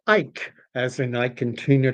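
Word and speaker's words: Icke: Uh, and oh, of course, Danny's giving me a icky is how I'm pronouncing it. He is saying that it's pronounced Ike, as in I can Tina Turner.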